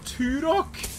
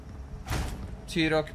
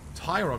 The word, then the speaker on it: Turok: Tyrok doesn't make any sense because there's not a Y in there.